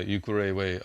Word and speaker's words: Ukerewe: So this island, how you say it, Ukerewe? Yeah, Ukerewe Island.